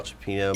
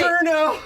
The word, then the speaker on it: Pacino: Pacerno!